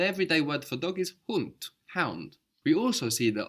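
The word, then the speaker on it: Hund: the word for dog in German is hunt hunt HT it's spelled hu n d so in English we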